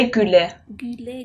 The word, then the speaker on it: güle güle: Güle güle. Güle güle. Isn't that? Yeah, it's like almost in German you have this U with the umlaut. It's pronounced the same way, güle güle.